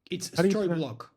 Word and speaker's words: Storyblok: Uh, how do you pronounce the company's name? It's stroblock.